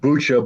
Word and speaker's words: Bucha: well, I believe it's pronounced Bucha, but I'm lazy and American, and therefore I butcher every language I ever try, and it often comes out Buka.